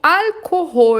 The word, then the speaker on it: Alkohol: Ou Alkohol, atenção para a pronúncia, olha o L lá no céu da boca, alkoholfreies Bier, que é a cerveja livre de álcool.